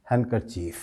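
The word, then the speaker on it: handkerchief: इस लफ्ज़ में आप बोलते वक्त डी पर स्ट्रेस नहीं करेंगे, बिल्कुल नहीं करेंगे। हैंडकरचीफ हो जाएगा ये। सही इसका प्रोनाउंसिएशन क्या होगा? हैंडकरचीफ।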